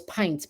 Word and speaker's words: Pynt: So Pint is spelled Pynt.